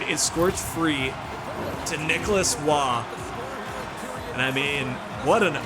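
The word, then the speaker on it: Roy: And the man of the hour, the guy that you said His name is pronounced Waugh.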